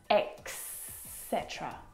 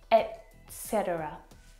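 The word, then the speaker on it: et cetera: Lots of native English speakers actually mess this up as well and they'll pronounce eetera or eterceter and it should be pronounced eterceter etc etc or etc if you're like me.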